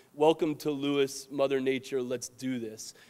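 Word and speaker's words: Lewes: see it there but it says welcome to Lewis Mother Nature let's do this uh and I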